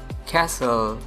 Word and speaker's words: castle: f a s t e n fasten fossil Castle repeat after listen hustle Castle the next word is silent oga butter foreign often Christmas often Christmas